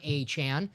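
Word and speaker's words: Achane: Dolphins by the way PR team for putting the pronunciations they tweeted at it's Devon achan I always wonder that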